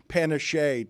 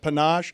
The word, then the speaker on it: panache: I have said the word panise to describe someone like Deion Sanders instead of panache.